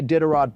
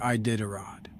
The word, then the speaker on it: Iditarod: I don't see a Diderot propaganda, so I'm going to say a hard no. That's not how you say Iditarod.